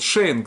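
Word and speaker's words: שענק: Значит, то есть перед вот это НГ, это НК, да, то есть АН стоит и читается как Эй.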